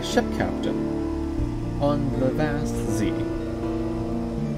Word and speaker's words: Zee: captain on the vast z i'm not mispronouncing it it's literally called the z you are underneath the